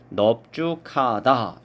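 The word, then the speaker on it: 넓죽하다: 5번 리을 비읍인데 넓다를 제외하고 이런 경우에는 비읍으로 우리가 발음을 하게 되겠습니다. 그래서 넙죽하다 이렇게 발음하는 것이 맞습니다.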